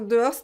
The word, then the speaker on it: dehors: chaises donc et es dehors dehors alors de horse d'un mot un peu difficile parce que on ne prononce pas le h et on ne prononce pas le s final dehors dehors c'est bon